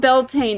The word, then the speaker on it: Beltane: in the stone pillars so Yi in bulk Beltane okay I was right about Beltane at the very least and lunasa okay so I was right that that one's pronounced lunasa okay it was just so in